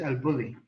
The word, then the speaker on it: El Bulli: But from cooking, El Bulli from Spain, pronounced in English El Bulli.